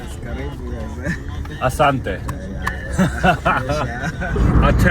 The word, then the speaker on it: Karibu: Karibu, yes.